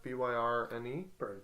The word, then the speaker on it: Byrne: Directed and written by Sean Byrne, I'm going to go with. Byrne. Burn. Yeah. Byrne? That's how you say it.